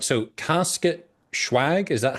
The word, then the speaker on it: Casket Schwagg: So Casket Schwagg, is that how I'm supposed to pronounce this?